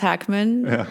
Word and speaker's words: Hackman: watching movies unfortunately and he spelled with a K so it's pronounced Hackman but I'm like with